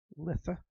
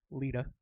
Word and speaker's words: Litha: 21st which is the summer solstice also called Litha also I've also heard it pronounced Lita this is when the the sun-god has reached